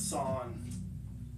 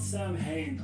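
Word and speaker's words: Samhain: I think it's Sawn. Something like that. It's not Sam Hain. I know that. I know that's how they pronounce it in the movies. Including the Halloween movies. Most of the time, not even always. Sometimes they do pronounce it correctly. But I think it is Sawn.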